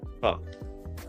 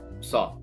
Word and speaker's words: Saw: Oh, so it's Saw. So you know when Jigsaw. Mm-hmm. Saw. Saw. Got it.